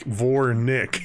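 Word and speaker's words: Vournick: it's spelled v-o-u-r-n yeah it's v-o-u-r and then n-i-c-k like vore nick nick nick uh nook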